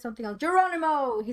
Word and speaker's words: Geronimo: Geronimo. He said Geronimo. Yes, Jerome. I can't pronounce that. Geronimo. Geronimo. You're switching the M and the N.